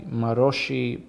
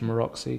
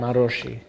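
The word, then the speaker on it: Maróczy: It introduces the Maroshi bind, or as we say in English, Maroxy, because we don't know how to pronounce anything. What language is that? Hungarian.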